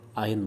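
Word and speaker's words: iron: Actually आयरन का pronunciation अगर देखेंगे तो आयन बोलते हैं, आयरन हैंड ऐसे बोलेंगे। बट आर भी बोलते हैं।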